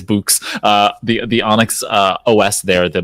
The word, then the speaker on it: Boox: I can never figure out how to pronounce that. I think it's Boox, the Onyx OS there,